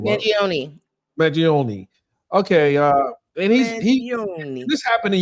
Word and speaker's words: Mangione: How do we pronounce this guy's name? I want Jack's name. Mangione.